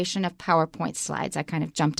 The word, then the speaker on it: PowerPoint: Don't say PowerPoint presentation. It's PowerPoint. PowerPoint. It's just one word, so point is not stressed.